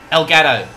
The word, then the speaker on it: Elgato: Elgato. E-L-G-A-T-O. Elgato, Elgato, depending how you want to pronounce it.